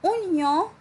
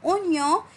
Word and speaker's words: oignon: Dans le mot oignon, il y en a O-I, mais je n'entends pas le son wa.